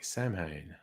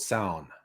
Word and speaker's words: Samhain: No, it's Gaelic, so the pronunciation is very different to what it looks like.